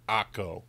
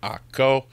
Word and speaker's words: Akko: Now, Acre is the anglicized name for Akko. So during the Crusades, Akko became Acre because, well, they really couldn't pronounce it. I don't know. Akko, not that difficult.